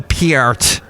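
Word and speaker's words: Peart: musicion of course and Neil Pier as I have been told I have to pronounce his last name now but Alex Lee he's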